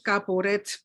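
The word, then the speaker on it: כפורת: es una traducción inventada debe decir delante del caporette caporet y Cómo se dice en hebreo y simplemente significa la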